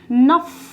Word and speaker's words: neuf: 9 is known as नफ, NEUF, it's called as नफ, ठीक है।